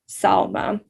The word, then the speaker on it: Salma: So for example, my name is Salma, 2 syllables, so I put in a hyphen between the syllables. And then to capitalize the letters of the syllable that's emphasized. So you all can see that I've already changed my name with the SAL part capitalized to indicate that that's where the emphasis lies, Salma, rather than Salma, for example.